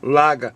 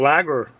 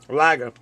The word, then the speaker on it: lager: the boston action accent laga should be saying lager the rest of the country pronounces their r's lager but um but it